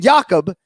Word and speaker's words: Jakub: And we asked this man, Jakub is his first name, Jakub, spelled Jakub. But, of course, Joanna Jacek in the fighter meeting is calling him Jacob. And I'm sitting here. He says it's Jakub, but you're calling him Jacob.